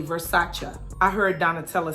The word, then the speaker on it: Versace: Did y'all know that it's not pronounced Versace? It's actually Versace. I heard Donatella saying that. She said Versace is the most mispronounced Italian word in the English language.